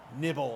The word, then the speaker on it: KNBBL: Is there a way to pronounce KNBBL? Like novel? I won my KNBBL match today purely based on 2 awesome nobility passing plays. That's awesome. Nibble, of course.